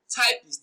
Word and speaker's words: typist: Now, every bisyllabic noun, that is, every noun with two syllables, receives the stress on their first syllable. Every bisyllabic noun receives the stress on their first syllable. So, typist is stressed as typist.